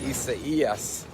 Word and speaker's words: Isaias: believe it it said hurricane i s a i a h and i said wow hurricane isaiah then i found out it's actually pronounced isa yes it's a spanish name but the reason i